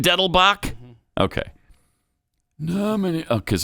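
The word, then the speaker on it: Dettelbach: nominate Steve Diddleback. Excuse me, I mispronounced your name. And it's still not Diddleback either. It's not Diddleback. It's Deadlewood. No, Diddlebach. Right? Oh, it is. Is it Deadlebach?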